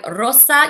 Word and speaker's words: rosa: So remember, when you say rosa, you need to roll your R, rosa, and the same for gris.